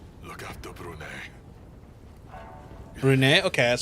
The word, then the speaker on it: Brunei: Brunei? Okay, that's how you pronounce it. Brunei.